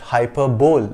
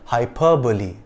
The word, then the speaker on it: hyperbole: This word is not pronounced hyperbole, but hyperbole.